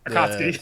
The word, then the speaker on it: Akatsuki: well, I'm going to butcher how do you pronounce the emblem on your hat? Akatsuki.